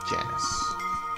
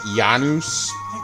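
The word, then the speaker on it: Janus: Yes, Janice. I've heard people pronounce it Yanus. I mean, come on. Is that like Latin or whatever? No, he he's Janice.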